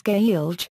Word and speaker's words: Gaeilge: written standard the name of the language is gay alg irish pronunciation before the spelling reform of 1948 this